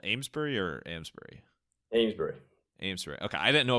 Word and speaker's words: Amesbury: Amesbury. Amesbury. Okay, I didn't know if it was like an old school New England pronunciation.